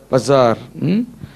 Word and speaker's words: basar: என்னது, எப்படி ப்ரொனவுன்ஸ் பண்ணலாம்? பசார்.